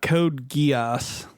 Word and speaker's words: Code Geass: about that was gross I apologize uh about Code Geass well I'm surprised you pronounced it correctly yeah have you ever seen